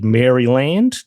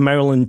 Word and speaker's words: Maryland: So, uh Maryland it is from now on. So, th those listeners that were getting an eye twitch every time I said Mryland, um you guys are now I don't know.